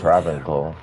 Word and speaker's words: Travincal: Why would Oh, she Travincal.